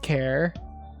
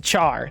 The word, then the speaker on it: char: say what triggered he's saying that car is pronounced care no it's a car come on it's a it's a char that's what it is it's a char okay